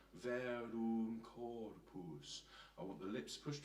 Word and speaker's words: Verum Corpus: So just to say the pronunciation here, Ave, Ave, Verum Corpus. And notice the sound, Verum Corpus. I want the lips pushed forward there, otherwise we'll get Verum Corpus, which isn't actually as nice a sound.